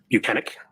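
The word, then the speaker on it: Bukhenik: Yes, Trooper Michael Proctor and Trooper Yuri Buchanan. If I said it right. You said it right. Other people have Now, not pronounced on that, Buchanan's name On that correctly.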